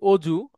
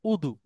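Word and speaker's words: وضوء: যেমন এরকম অনেক শব্দ আছে, আমরা যেটাকে বলি গজব, আরবিতে সেটা গদব। আমরা যেটা বলি কাজী, আরবিতে সেটা কদি। আমরা যেটাকে বলি অজু, আরবিতে সেটা হচ্ছে উদু।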